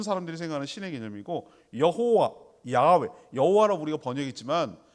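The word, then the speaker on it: Yahweh: 생각할 때 모든 사람들이 생각하는 신의 개념이고 여호와 야외 여호와라고 우리가 번역했지만 발음을 어떻게 해야 될지 몰라서 이게 구전이 안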